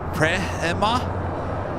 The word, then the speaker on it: Premia: And soul searching Emily with the $2 super chat says Air Premia is pronounced Prema in Korean. Premia.